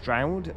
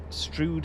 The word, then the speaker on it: Strood: Abnormal now says it definitely is not pronounced Straoud. Strude is the correct correct pronunciation.